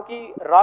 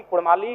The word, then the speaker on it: काड़ा: कर लीजिए कि उनमें वे अगर उच्चारण भी करेंगे ना तो वो कारा कहेंगे, भेड़ा कहेंगे, भेड़ा नहीं बोल पाएंगे।